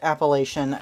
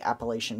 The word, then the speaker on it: Appalachian: to the Appalachian Mountains, or Appalachian, which is, I believe, the correct way to say it. But I grew up saying Appalachian because I lived in the northern part of it. And that was just kind of how it was said, so I tend to